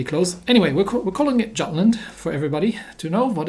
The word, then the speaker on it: Jutland: in the Battle of Jutland I'm going to pronounce it jatlin just because I'm speaking English right now and that's the way that things are English pronounced in English if I'm talking about